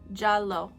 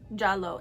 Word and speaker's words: giallo: at least in Italian J J is how jalo jalo it's Italian for yellow and I've pulled up